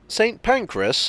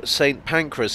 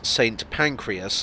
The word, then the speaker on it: St Pancras: times incidentally i know saint pancras is often mispronounced as saint pancreas so while i'm here